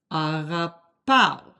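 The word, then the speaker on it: αγαπάω: It sounds very similar to pow, but it really is pao. If you said it very slowly, you would hear agapao. But when you say it normal speed, agapao.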